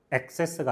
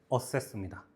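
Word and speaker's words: assess: 자, 단어를 꼭 공부하셔야 되는게 뭐냐면 요거 발음은 꼭 해 보셔야 돼. 어스. 엑세스가 아니라 어세스입니다.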